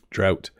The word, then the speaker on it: drought: Christmas at various places drought so here's another one of those words like thought and throughout and thorough where we use the o u g h uh in the spelling a drought is a